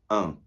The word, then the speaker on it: un: So, for masculine, bit harder, un. un in the nose there, quite a nasal sound.